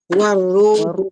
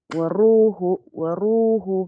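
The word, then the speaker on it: وَالرُّوحُ: waruhu fiha Tinanggal mo ang sadda dito. War at saka ru. War. Hindi waru. Sandali, makinig ka muna. Yung nabibigkas mo ay waru. Natanggal ang sada. Ganito. Doble yung bibigasin. War. Dagdagan mo ng ru.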